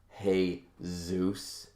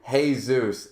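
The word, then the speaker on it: Jesús: it up eventually but isn't it ironic that Jesus is pronounced hey Zeus literally the thing that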